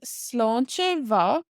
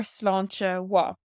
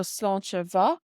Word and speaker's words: sláinte mhath: Now another way to say cheers is sláinte mhath or sláinte wa. So this MH in ma can be pronounced like a W in Connacht and Ulster or like a V sound in Munster. So sláinte mhath or sláinte wa.